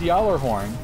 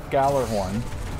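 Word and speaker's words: Gjallarhorn: It is Yawler horn, not Galar horn. So they say it wrong in the game. It's a Yawler horn if you say it correctly in Norse. But just in regular old English, it's Yawler horn.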